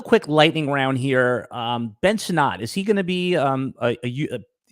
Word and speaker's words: Sinnott: Okay, I know it's Sinnott, Sinnott.